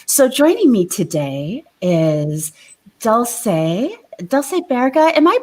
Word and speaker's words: Dulce Baerga: So joining me today is Dulce Baerga. Am I pronouncing that correct, Dulce?